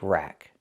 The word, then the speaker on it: rack: This is called a bike rack. Again, not a bike park, but a bike rack. Pronunciation. Rack. Use the short a sound like black cat. Not rock like rock and roll, but rack like black cat.